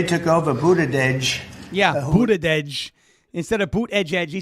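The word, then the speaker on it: Buttigieg: Boot edge edge. Like the edge of a building.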